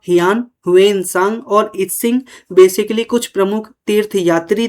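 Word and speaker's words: I-tsing: इतंग यहां पे टी क्या है? साइलेंट है। तो इस प्रकार से आप देख रहे हो फ़ हयान ह्वेनसांग और इत्सिंग बेसिकली कुछ प्रमुख तीर्थ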